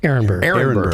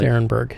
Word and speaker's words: Arenberg: Arenberg. Well, you see ARE and people think R. It's Arenberg. That's how we pronounce it.